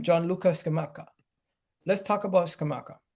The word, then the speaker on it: Gianluca Scamacca: Today, we're going to be talking about how do you pronounce his name? Gianluca Scamacca.